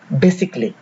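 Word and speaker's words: musically: উচ্চারণ হয় না যেমন এম ইউ এস আই সি এ এল এল ওয়াই এটা হওয়ার কথা ছিল মিউজিক্যালি কিন্তু না এর উচ্চারণ হবে মিউজিক্যালি একইভাবে বি এস আই সি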